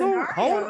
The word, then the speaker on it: scenario: You can't just go to done it in different hold scenarios. on. Let me ask a question. It's actually pronounced scenario, but we'll get to that another day.